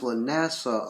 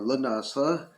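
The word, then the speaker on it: Lughnasadh: And I've heard it pronounced Lunasa a lot, or Lunasa.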